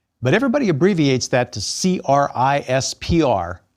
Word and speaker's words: CRISPR: everybody abbreviates that to c-r-i-s-p-r pronounced crispr like the veggie compartment in your fridge and crisper and its cousins are